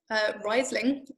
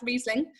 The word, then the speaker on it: Riesling: I think we all probably started calling it Riesling until we were corrected and told it was in fact Riesling.